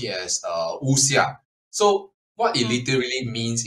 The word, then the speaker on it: wuxia: as WX I a so uh uh you pronounce it as uh usia so what it literally means in Chinese is